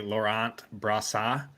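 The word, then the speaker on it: Laurent Brossoit: yes on the connect correct pronunciation as actually Laurent Brasa it actually is how you pronounce it um thank you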